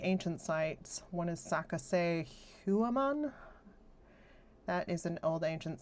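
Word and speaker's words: Sacsayhuaman: One is Saka Huaman. That is an old ancient site. It's spelled S A C S A Y H U A M A N.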